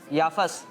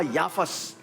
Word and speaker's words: याफिस: याफस। Pronunciation दुरुस्त होना चाहिए। याफस। आपने कहा याफस, जबकि सही जवाब है याफिस।